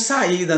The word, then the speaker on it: saída: S-A, a letra I que fica isolada, a letra I na separação de sílaba da palavra saída não fica junto do A, fica separado, fica afastado do A. E por isso o nome certo, o nome correto é saída, ok?